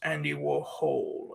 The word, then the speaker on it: Andy Warhol: No, that's pronounced Andy Warhole as in hole.